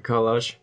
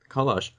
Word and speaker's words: collage: It's just I guess we are used to having the emphasis on the Collage. second syllable, whereas Yeah. you're putting the emphasis on the first syllable.